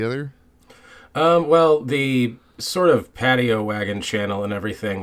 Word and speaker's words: Paddyowagon: My name is Fresman, and today I'm joined by, I hope I'm pronouncing this right, Paddyowagon.